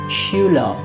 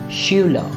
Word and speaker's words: Schüler: But if AR comes at the end, as is the case in so many professions, especially for the masculine gender, we don't pronounce it as er, rather we pronounce it as o. So this word would be Schüler.